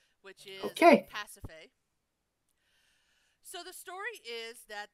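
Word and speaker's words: Pasiphae: and rainiac helped me figure out the correct pronunciation of this name which is pacify so the story is that there was the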